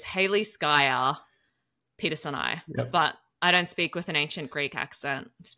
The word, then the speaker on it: Haliskia peterseni: So Hals is in reference to salt for the ocean, and then Skya is a phantom. So technically, and this is in the paper, the proper pronunciation is Haliskia peterseni.